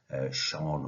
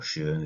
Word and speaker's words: Schön: There are quite a few, for example, Gibbs, Rolfe et al., Sean or Schön, as it's sometimes pronounced, Kolb, Honey and Mumford cycle.